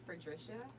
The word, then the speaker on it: Fredrisha: But now, especially in a professional setting, I insist on being called Fredrisha, and every adult should be able to pronounce that.